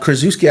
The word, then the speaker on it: Krzyzewski: And Krzyzewski, I believe is how you pronounce his name.